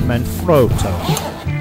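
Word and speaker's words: Manfrotto: in the Italian Factory is properly pronounced men froto but I'm from London England so I'm going to roll with man froto okay there appears to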